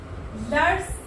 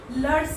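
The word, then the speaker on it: leurs: So lurs, लर्स यहाँ हमने एस लगाया है, बट हम इसे प्रोनाउंसिएट लर ही करेंगे। तो यहाँ आपने देखा, ये होगा मैस्कुलिन सिंगुलर के लिए, ये होगा फेमिनिन सिंगुलर के लिए, और ये होगा प्लूरल के लिए। एस यूज करने के बावजूद हमें लर ही प्रोनाउंस करना है, लर्स नहीं प्रोनाउंस करना है।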